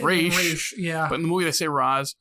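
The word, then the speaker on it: Ra's: raza ghoul it's funny they say roswell ghoul when i think it's pronounced race and then you got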